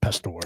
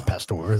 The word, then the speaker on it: Pasteur: I think I remember hearing when I took biology, I remember hearing his name pestor. I think it's pastor. That's how you say it.